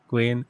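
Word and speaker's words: Guillén: Guian. Okay. Yeah, he's Hispanic. Okay. Double L is it's not pronounced O.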